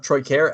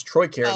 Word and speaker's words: Troy Carroll: game fightstones of of troy care actually i said it wrong also it's troy carroll looks like okay um